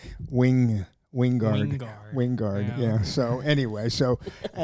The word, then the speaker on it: Wingard: movie I just finished with him and he pronounces his name Wing Wingard winguard yeah so anyway so um anyway getting